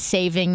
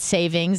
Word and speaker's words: saving: and i learned yesterday it's saving not savings that's why i'm trying to make a conscious effort to say it correctly it really threw me